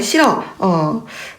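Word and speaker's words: 싫어: 자, 그 다음에 실어. 자, 실허가 아니라 실어입니다. 자, 아까 나왔었죠, 여러분? 받침 히읗. 그죠? 뒤에 모음으로 시작된 어미나 전미사가 결합되는 경우에 히읗을 발음하지 않아요.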